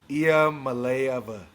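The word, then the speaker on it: Iamaleava: Nico, the phonetic way to announce it is IA Malaya. So, in case you wanted to know how to pronounce it, it's not going to even attempt it.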